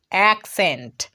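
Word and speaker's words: accent: একটা জিনিস ভালোভাবে লক্ষ্য করো, এখানে কিন্তু আমরা ডাবল সি পেয়েছি, কিন্তু ডাবল সি এর উচ্চারণ শুধু ক করছি না, এখানে একটা সি এর উচ্চারণ ক হচ্ছে, আর একটা সি এর উচ্চারণ দন্ত স হচ্ছে।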